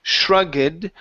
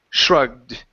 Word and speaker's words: shrugged: the last word okay the last word has an e d ending okay and since the this is not a t or a d okay the E after that uh or before the D is silent so instead of saying Shrugged the word is Shrugged Shrugged there you go